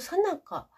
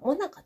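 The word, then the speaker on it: 最中: 復職運動ユニットさなか、カッコ書き最中と書いてさなか、もなかとも読む。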